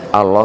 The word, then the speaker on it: Allah: hanya kepada Tuhan allahmu tulisannya Allah Ya saya bacanya juga Allah karena enggak ada tasdidnya saya jadi bacanya Allah bukan Allah gitu ya jadi Yesus